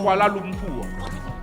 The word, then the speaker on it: Kuala Lumpur: Non, tu n'as pas les syllabes. Il fallait dire Kuala Lumpur.